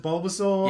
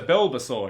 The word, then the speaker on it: Bulbasaur: the studio and they kind of kind of mispronounced Bulbasaur yeah it's like that slight off you know there's a builder saw here other most I talk about like how